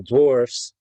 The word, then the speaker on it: dwarfs: That's why I'm torn on using actual dwarfs to play dwarves. Notice I pronounced that different at the end. One is an F, one is a V.